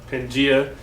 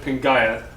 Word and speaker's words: Pangaea: have heard it pronounced pangaea it's more properly pronounced pingaia it's a latin word and before that we